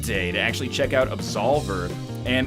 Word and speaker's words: Absolver: And finally, I had the pleasure on the third day to actually check out Absolver. And Absolver, it's easy to remember who published it because it rhymes, is Devolver's publishing it because they're not making it, game, Devolver Digital.